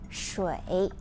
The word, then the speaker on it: 水: First, the pronunciation of water is 水. 水.